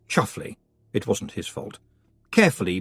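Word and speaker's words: Chumsfanleigh: was rattled angrily Roland the Chums fanley pronounced chuffle it wasn't his fault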